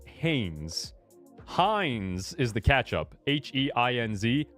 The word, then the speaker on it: Hanes: I said Hanes. Hanes. Spells and is pronounced Hanes.